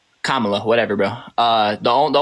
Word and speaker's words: Kamala: a few things that Camala you know only is how you pronounce her name Kamala whatever bro uh the